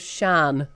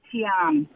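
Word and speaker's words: Tschan: I'm going to go with Shan. I'm going to go with Tishan. I'm going to think it's the S-C-H of silent Tan. That's actually pronounced Tian.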